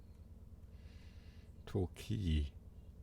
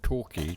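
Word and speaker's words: Torquay: The next station not pronounced like that. Tori is its pronunciation. Torqui just makes it sound like a bad pronunciation of Turkey.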